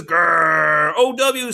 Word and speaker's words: grow: awesome blood that says gr o w says just says oh there's a perfect example where the w doesn't get the talk g r o says grow the w is silent ing says growing